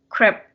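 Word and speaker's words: crêpe: savory one it's pronounced crap like very just immediately just you have to stop it like crap it's pronounced like that in the french language and then uh and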